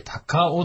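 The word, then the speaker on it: 卓王: 、はい、普通は卓王でしょ。卓王なんですが、これで高尾って読むんです。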